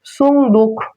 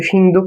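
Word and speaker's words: صندوق: হবে এরপর দেখ হচ্ছে সুন্দুক মানে সিন্দুক বলে না সিন্দুক আগের লোক বলতে কিন্তু সিন্দুক ছিল গুপ্তধন থাকতো সিন্দুকের ভিতর সে আরবি উচ্চারণ থেকে মানে আরবি শব্দ থেকে কিন্তু বাংলাতে ভাষায় সিন্দুকটা চলে আসছে এ হচ্ছে সুন্দুক সুন্দুক মানে আরবিতে উচ্চারণ হবে সুন্দুক সুন্দুকন কার দুই পেশ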